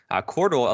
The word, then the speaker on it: Qortal: And now there's new systems being created, like Cordal.